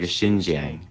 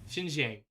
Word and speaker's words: Xinjiang: In Xinjiang, nearly 2,000 miles west of Beijing. No. What? So you do it. Now let's compare. The X is more like a sh, like a Xinjiang. Xinjiang.